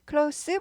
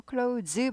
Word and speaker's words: close: 친한이란 뜻으로 쓰인 거죠 클라우스는요 발음이 두 가지가 있어요 클라우스도 있고 클로즈도 있어요 발음 기호는 옛날 이렇게 썼죠 이게 발음교회라는 표시에요 클로스 발음이 날 때가 있고 클로우즈 발음이 날 때가 있어요 이게 발음 기어스 얘는 발음 껴요 그래서 클라우스 사면요 형용사예요 형용사로서 여기 나온 친한 가까운 이런 뜻이고요 크라우즈 하면은 동사예요 동사 문을 닫다라는 뜻이에요 문이 아니라 그냥 뭐